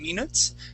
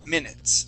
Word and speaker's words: minutes: this word here uh you had you had used a uh a uh a the Portuguese I okay that long e sound saying minutes okay the word is actually M minutes try that please minutes